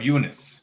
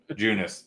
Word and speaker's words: Junis: Jakob Eunice. It's a fun way to say his name. Junis, gosh.